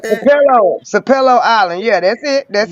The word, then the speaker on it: Sapelo: Sapelo Island.